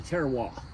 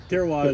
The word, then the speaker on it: terroir: It's the terroir. Okay. Terroir. He just mispronounced a word.